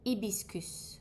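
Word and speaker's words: hibiscus: Rose extreme and then you have ebiscus which is a flower.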